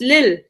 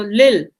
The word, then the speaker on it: Lille: from the Belgium um Belgium and France so Lil l e l l eou l e but pronounced Lil Lil L Lil okay oh very cool Lil